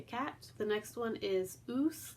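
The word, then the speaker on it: ūs: The next one is oos, like moose, like the animal, the moose.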